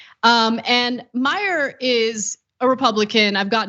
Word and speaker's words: Meijer: I'm guessing that the silent J is what kind of throws him off. And maybe he thinks it's like a Latino name, who knows? But it's actually a Dutch name.